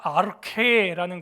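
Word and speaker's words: ἀρχή: 이 태초라고 하는 헬라어가 아르케라는 거예요. 아르케 하는 거예요. 후발음, 후음이에요.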